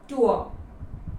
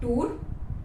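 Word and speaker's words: tour: rejuvenate feel होता है उसे कहते हैं टूअर नॉट टूर टूअर the next word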